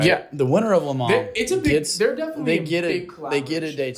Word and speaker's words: Le Mans: Le Mans.